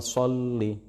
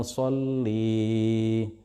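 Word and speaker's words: صلّ: Qulub, misalnya, dengan melodi, jangan memperpanjang 'li', jangan membacanya terlalu panjang ; Sebaiknya dibaca singkat, misalnya "Allahumma sholli ala sayyidina". Muhammadin, dan seterusnya. Jadi jangan dibaca sebagai "Allahumma sholli".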